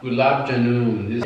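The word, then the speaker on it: グラブジャムン: Gulab Jamun. Gulab Jamun. They were butchering all this stuff, dude. Gulab Jamun. Gulab, that's what I just said. Gulab. It's gulab. Gulab. Gulab Jamun.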